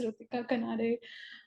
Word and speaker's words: Ritika Kanade: So we have Ritika Kanade. I'm not sure if I'm pronouncing that right, but thank you so much for tuning in. Yeah, you're pronouncing it correct. It's Ritika Kanade.